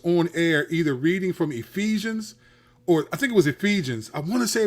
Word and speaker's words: Ephesians: is the Bible and she pronounced Ephesians like epes it was some it